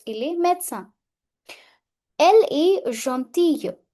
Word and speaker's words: gentille: Elle est gentille. Gentille. Double L silent. Gentille.